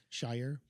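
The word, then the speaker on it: Shawyer: I bet that rhymes with lawyer because spelled like spelled like lawyer with an shy. Shyer shyer.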